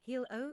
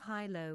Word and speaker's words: Hylo: Kender in Urgath often pronounce it as hilo instead of hy low which contrary to the origin of its name.